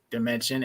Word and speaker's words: Damencion: a family name and the way I help people pronounce my name is like this um I Come From Another Dimension or think of it as that math word dimension I like that that